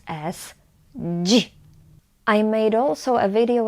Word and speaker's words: dzi: D, z, I we pronounce as ji. I made also a video lesson on pronunciation of this sound, ji, and it's available for free on my website,